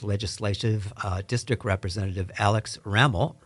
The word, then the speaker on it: Ramel: uh District representative Alex raml rhymes with camel and it's nice to